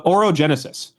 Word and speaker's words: orogenesis: Let's get the pronunciation right. So, orogenesis uogenesis.